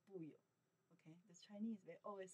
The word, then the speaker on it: 不: was negative No or not Remember how can pronounce? Sure 不 Or 不不 By itself only one character 不